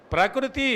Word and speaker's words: ప్రకృతి: ప్రగురువు కావాలి కాకూడదు ఆ ప్రకృతి అన్నప్పుడు మూడు లఘువులే వికృతి ఒక్క నిమిషం వికృతి అన్నప్పుడు మూడు లఘువులే వికృతి ప్రకృతి అనకూడదు అసలు భాషపరంగా ఉచ్చారణ పరంగా తప్పు అవి లఘువులు కాబట్టి తేల్చి పలకాలి నువ్వు గురువు ఎప్పుడు అవుతుంది ఊనిక